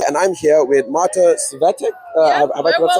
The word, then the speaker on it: Svetek: A narrow E. That first E, it's tricky.